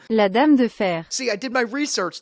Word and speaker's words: La Dame de Fer: I don't know exactly how to pronounce this. It's La Dame de Fer? La Dame de Fer.